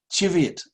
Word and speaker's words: Cheviot: of care with this the way to pronounce this this sheep's name but I gather it's Chevy Cheviot like that Cheviot that's how they say it in Scotland I asked a couple